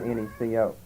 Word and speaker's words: Necho: But a CH, of course, in King James with a line under it pronounced like a C. That's, of course, the same as Chaldean. And if it ends with an H, that's really not pronounced, so in effect you've got Necho.